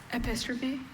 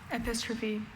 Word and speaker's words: epistrophe: Epistrophe epistropy. E P I S T R O P H E. Apistrophy.